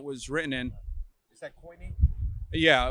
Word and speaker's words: koine: Is that koine? Yeah, we pronounce it kine, but yeah, koine, Greek.